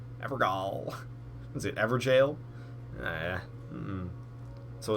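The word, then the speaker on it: Evergaol: There's a gall. Apparently, people call it jail. Apparently, it's not uncommon to pronounce these jail. I like my pronunciation better. Look at that. Forlorn Hound Evergall.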